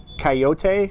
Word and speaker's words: Kaiyote: it's Hiatus, and then Coyotes come spelled completely different.